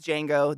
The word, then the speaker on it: Django: My name is Django. The D is silent.